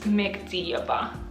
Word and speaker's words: Mekhdiyeva: one can say my last name until I pronounce it for them it's Mexia ba okay anyways uh but the book my year